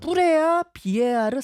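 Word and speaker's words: Preah Vihear: 그 갈등의 중심에 조금 전 말씀하신 뿌레아 비에아르 사원 제 발음이 맞아요. 네, 맞습니다. 뿌레아 비에아르 사원이라는게 있다.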